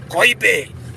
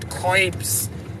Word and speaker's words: Koibe: For any Kikuyu speaking audience in this show today, Koibe, it's pronounced Koibe. And English people will call it Koibe. And for any people who want to twang, they will call it Koibs. But it's called Koibe.